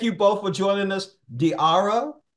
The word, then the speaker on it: Diarra: the show di that how to pronounce my name diara okay diara thank you with a d yeah there I just